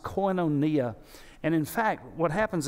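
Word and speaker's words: κοινωνία: it's it's that greek word that would be pronounced coinonia and in fact what happens is that the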